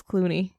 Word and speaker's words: Cluny: I called it Cluny. Evidently, it's Clooney.